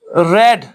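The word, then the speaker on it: read: में for example I रेड the book yesterday ठीक है आई रेड द बुक क्योंकि रीड की दूसरी फॉर्म जो है वो है रेड लेकिन स्पेलिंग वही रहती है और तीसरी फॉर्म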